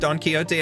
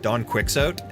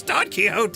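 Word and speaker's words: Don Quixote: I didn't know it was pronounced Don Kyote at that. And my ex-girlfriend at the time had corrected me because I said Donquixot and she was like, "It's Don Kyote."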